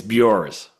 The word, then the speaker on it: Bjors: uh uh, pronounce your name for me if you will. I want to make sure I get it correctly. It's Bors. Okay. I would have said it wrong.